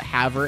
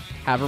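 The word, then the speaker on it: Havre: Montana out of the Haver area Haver Montana h-a-v-r-e because it's spelled weird anyway um so they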